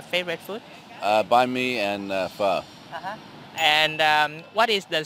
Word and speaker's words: phở: Pho.